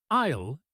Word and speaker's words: aisle: Isle is a tricky word. The S is silent. It is pronounced I.